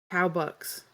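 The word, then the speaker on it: Cowbuck: Corpus Square all book how do you pronounce it cow bucks c-o-w-b-u-c-k okay cow bucks it's like it's like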